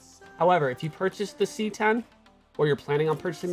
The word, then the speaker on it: CX: cx which is pronounced c10 that x is a roman numeral for 10 the c10 and the